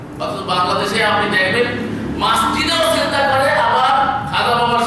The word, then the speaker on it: মসজিদ: পাওয়ার উপযুক্ত শুধু আল্লাহ মাসজিদ মানে হচ্ছে সেজদার হ্যাঁ এই যে মাসজিদ বলি না আমরা এখানে একটা ভুল করি সবাই বলি মসজিদ মসজিদ মসজিদ না আগে মাছ তারপরে জিদ মাছ খাই না মাছ